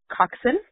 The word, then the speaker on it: coxswain: Coxswain is also pronounced coxswain.